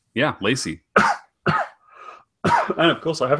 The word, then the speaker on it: Leacy: how do you say your surname it is Lacy yeah Lacy and of course I have a Go Lacy